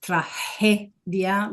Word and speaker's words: tragedia: So you can hear the G is not tragedy, but it's tragedia, like with the H sound.